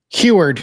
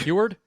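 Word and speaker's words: Huard: How do we pronounce this gentleman's last name? Huward. Huward.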